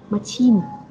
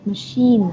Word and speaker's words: machine: Thì nhiều bạn mắc sai lầm là khi nhìn thấy cái từ này các bạn sẽ đọc là machine. Nhưng mà ở đây Nam Anh đã rất xuất sắc đúng không? Là đọc đúng từ machine, nó là âm chờ.